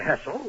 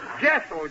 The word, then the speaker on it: Jessel: Hessel. Hessel? Jessel, J.